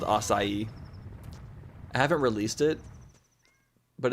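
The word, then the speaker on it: açaí: You pronounce acai as aai. Well, it's acai. I get you can pronounce it that way, but no one's going to know what you're talking about.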